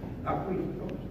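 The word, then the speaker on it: Acquisto: No, A-C-Q-U, Aquisto, suena así.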